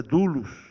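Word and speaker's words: δοῦλος: que equivale a dlos como se fala na realidade a pronúncia dulos do grego que significa escravo escravo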